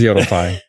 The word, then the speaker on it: Yodeli: Did I, you know, I asked you how to pronounce your last name, but then did I pronounce Yodeli right? Yes, it is Yodeli.